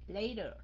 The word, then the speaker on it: later: A few minutes later. Các anh chị đọc later cũng được, giọng Anh. Okay? Mỹ thì nó đọc âm T thành âm D, thường thường là như vậy.